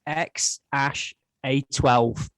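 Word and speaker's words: X Æ A-Xii: Wow, is that the correct pronunciation then? I did. I looked it up. Yeah. So apparently it's X A-Xii.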